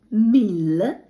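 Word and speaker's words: mille: тисяча французької мовою буде міль міль гарнесенька Л В кінці наче з м'яким знаком Міл далі слово е т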